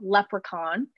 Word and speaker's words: leprechaun: so the word doesn't the spelling doesn't really match the pronunciation but it's called leprechaun and it's from the